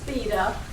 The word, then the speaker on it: Theda: my crotch you're right the name is pronounced theta but i think over